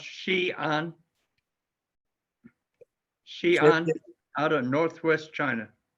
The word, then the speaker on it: Xi'an: with the name Xi'an, Xian. And since Xi'an sounds so much like Zion, it's certainly an intriguing possibility.